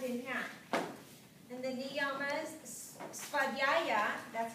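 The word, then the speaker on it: svādhyāya: And the niyamas, svadhyaya, that's how you pronounce that one.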